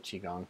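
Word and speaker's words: qigong: RJ, Noah, I recently discovered Qi Gong for my depression and anxiety. Terrific results thus far, 3 weeks. Have you heard of Qi Gong?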